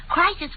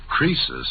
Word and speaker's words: Croesus: Crisis was a rich king. Oh, don't you know, Susie? Croesus, not Crisis, was a rich king.